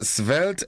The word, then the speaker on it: svelte: So remembering the word of the day today is the word svelte, S-V-E-L-T-E, but it's pronounced as S-V-E-L-T.